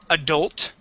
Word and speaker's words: adult: Let's go to the word adult. Adult. Adult, okay. Okay, use that or pronounce that L there, okay?